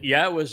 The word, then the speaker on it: Yahowah: And um and here is the evidence that Yahwa's name is pronounced Yahwa.